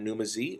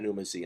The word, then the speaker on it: Pneumaz: And if you'd like to talk to me online, you can do so by finding me on Twitter at NumaZ or even Instagram at NumaZ, and that's spelled PNEUMAZ.